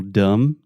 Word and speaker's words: dumb: in English for example dumb dumb you don't say dumb no you're a dum dum yeah so there's a B in the word dumb but we do not pronounce it many times in English